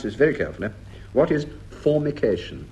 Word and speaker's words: formication: prant to Marks Denis Norton what is and pronounce this very carefully what is formication f o r m i c a t i o n formication pH couldn't have a better definition of